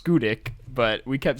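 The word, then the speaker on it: Schoodic: And then the campsite we stayed at was called Shudik. But it's what? It's why pronounced are these things named like that? It's pronounced Skudik, but we kept saying Shudik.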